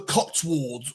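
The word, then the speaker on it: Cotswolds: That's another one where you have to pronounce it just like that. The Cotswalds. We're going to the Cotswalds. That's how you say it.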